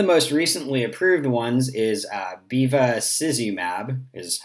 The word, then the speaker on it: bevacizumab: So one of the most recently approved ones is bevacizumab, is how I pronounce it, and it is a monoclonal antibody that targets vascular endothelial growth factor.